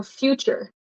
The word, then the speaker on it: future: of further this one it actually makes a CH sound so future so future put future